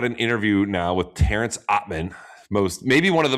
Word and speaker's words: Atmane: On today's podcast, we have the left-hander, the Cincinnati semifinalist from last year, Terrence Atmane. First of all, did I pronounce that correctly?